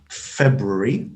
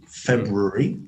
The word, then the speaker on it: February: hear plenty of british people mispronouncing them or pronouncing them their own way i mean that's where it's right or wrong so feb february february february interesting so there's a lot more mo